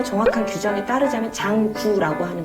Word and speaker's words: 장구: 그런데 한자로 보면 길장에 붓고자를 써서 장고라고 이렇게 발음하는 게 맞는데, 그게 지금 시대를 이렇게 거슬러 오면서 우리나라에서 정한 게 국악통일 그 사전에 보면 장구라고 하자라고 이제 합의가 되어 있기 때문에 우리도 이제